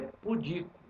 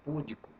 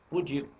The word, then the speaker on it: pudico: a outra palavra é pudico não é púdico pudico então o gabarito provisório